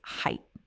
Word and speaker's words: height: Now, the tricky part here is not really the pronunciation of the main body of the word, it is the ending. Many learners add a sound at the end and say height with a th at the end, like they are following the pattern of words like width and length and breadth.